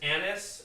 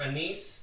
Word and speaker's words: anise: the same taste family as Anis or anise depending on how you want to pronounce it stares is one of